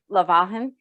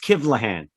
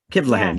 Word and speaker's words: Kivlahan: your last name correctly just a little bit of a change there and yeah it's kevlahan yeah close yep kevlan yep thank you there we